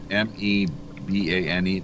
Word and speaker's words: Mbane: Carolina remember yeah I remember it's pronounced m b a n e mbane and we had her on on with us actually.